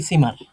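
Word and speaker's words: Zimmer: fine এরোটেজি hotel সিমার এটা সেট আমরা ইংলিশে জেড পড়ে আসছি আজীবন বাট আমরা ড যখন পড়ব এটা আমরা সেট পড়ব আর সেটের উচ্চারণটা স্পেলিংটা সেটের মত হবে এরুক আইন হোটেল সিমারে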